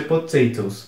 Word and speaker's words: potatoes: s no final mas apesar de ter esse es No final a pron pronúncia não muda tanto você pronuncia potatoes meio que você ignora a letra e só na escrita mesmo que você você tem